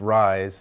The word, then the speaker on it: Reye: call us Reye's syndrome spelled capital re ye s but pronounced rise like I rise in the morning and this aspirin at